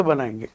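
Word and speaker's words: been: आप बताइए नेगेटिव कैसे बनाएंगे ये कॉमन सेंसिबल है की सर आप ठीक है आई एम नॉट pin pronounce करेंगे बिन जैसे डस्टबिन होती है यह हो गया फॉर्मेटिव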